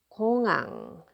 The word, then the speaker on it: 공항: 공항, 공항. And I still pronounce this because this is a final consonant, right?